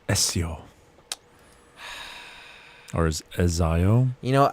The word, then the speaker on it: Ezio: It's actually Ezio phonetically. Silent T, is he Italian?